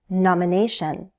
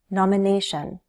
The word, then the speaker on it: nomination: Nomination. Nomination. Nomination. Primary stress is on the third syllable. Nomination.